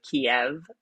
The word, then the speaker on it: Kiev: name of the city in english for some reason they emphasize the v at the end so kiev that is more like